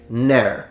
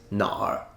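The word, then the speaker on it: 哪儿: kind of surface level the app pronounces it ner no one who speaks Mandarin as a first language will ever say no it's Nar at least in standard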